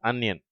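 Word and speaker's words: onion: plug drug under uncle இதிலே முதல் வார்த்தையை தவறாக உச்சரிப்பார்கள் ஆனியன் என்று சொல்வார்கள் சரியான உச்சரிப்பு அந்நியன் அதுபோல அங்கிள் என்ற வார்த்தையை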